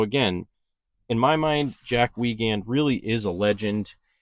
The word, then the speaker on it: Weigand: I think I pronounced his last name uh We Wand or We Wagand or something like that. I pronounced it differently and he corrected me and said it was pronounced Wagand. So, if you do refer to Jack, make sure that you say his name is Wagand.